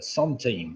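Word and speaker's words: centime: team the song team it's spelt sent on C e n tima is the Sun team well done if he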